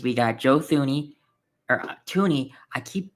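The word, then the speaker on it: Thuney: agency hall because we got Joe thuni or Toney I keep pronouncing the H in his name it I want to just say the H because it's there but so we've acquired um Joe Joe Toney Jonah Jackson uh uh Drew Dalman Deo uh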